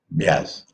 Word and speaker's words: Beas: According to the Punjabi pronunciation Beas, Vyas.